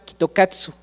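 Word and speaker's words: キットカット: Y pues ellos no sabían, no tenían idea, hasta que se dieron cuenta que en Japón, cuando leían Kit Kat, pues no lo podían leer como nosotros, lo pronunciaban Kitokatsu.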